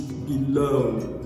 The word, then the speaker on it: below: So for instance, if I have the word below, the stress is often placed on the second syllable, which is below.